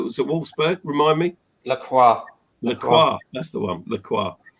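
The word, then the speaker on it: Lacroix: the guy that was at Wolfsburg remind me laqua laqua that's the one laqua well on Fergus for pronouncing it correctly um apparently he's playing for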